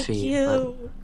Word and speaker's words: Fi: don't care yeah well I think it is fi like f fi yes fi is the official pronunciation I say Fe whatever yeah so Nintendo